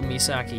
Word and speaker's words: Misaki: corrected myself so technically if we were speaking Japanese her name would be me it would go misaki you know because you